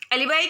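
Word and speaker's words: alibi: एलिबी यानी कि एक किसी और प्लेस पे, एलिबाई का इसको एलिबी भी बोलते हैं, एलिबाई भी बोलते हैं। तो इन वर्ड का प्रोनाउंसिएशन हो सकता है आपको अलग अलग दिखे।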